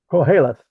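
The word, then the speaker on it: Qoheleth: a religion please tell me about that and pronounce it for me calth uh it's it's a Jewish word it's basically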